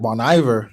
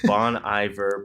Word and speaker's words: Bon Iver: sound like I'm stupid Bon Iver pronouncing lays it earlier they're from the track monster I got the lights off it's French Iver like winter oh I'm saying Bon Iver obviously whatever don't cold